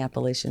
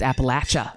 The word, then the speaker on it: Appalachia: It's Appalachia. That's Appalachia. There you go. And I don't think that either one of them are incorrect, because I think that pronunciation depends on your background, and it's perfectly fine.